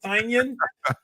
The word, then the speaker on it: Tynion: People say his last name all kind. I say Tynan. I'm pretty sure Tynan's the right way, but people say it all kinds of different ways. He has his website, Tiny Onion, so that kind of gives you so it's like throws you off, right? Like, is it Tynion?